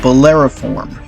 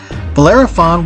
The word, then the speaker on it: Bellerophon: Next, we're going to talk about Bellerophon. I'm sorry, I mispronounced that. Bellerophon was a Greek hero who, after facing numerous